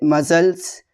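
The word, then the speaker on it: muscles: अगर सी से पहले एस आता है तो सी साइलेंट होता है। ठीक है ना? जैसे मसल्स सीज़र्स फैशनेट सीन।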